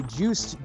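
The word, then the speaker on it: Juste: Followed by Juiced Belmont, I believe that's how that's pronounced.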